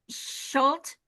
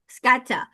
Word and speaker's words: Schutte: And Elmari, and is it Schulte? Schutte. How do you say it? Schutte. Scatta? Scatta.